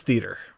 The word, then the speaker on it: theater: He doesn't pronounce the A. It is theater.